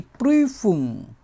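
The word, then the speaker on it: Prüfung: যেটা হচ্ছে পরীক্ষা দি প্রিফুম দি প্রিফুম এটা হচ্ছে পরীক্ষা দি প্রিফম অথবা এটা এক্সামও বলি প্রিফুম প্রিফুম উমলাউট আছে এটার জন্য একটু অন্যরকমভাবে বিভিন্ন রকমভাবে উচ্চারণ করার চেষ্টা করবো আমরা তারপরে যে পরীক্ষাটা এটাই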